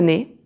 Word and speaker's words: nez: So the letter Z is most of the time silent, like for example, j'ai mal au nez, j'ai mal au nez.